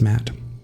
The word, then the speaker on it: Matt: be very different now the names Matt the second T is silent Ament sure sounds like